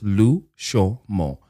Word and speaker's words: Lushomo: It's literally just three syllables. Lushomo. And that is L-U-S-H-O. M-O, Lushomo.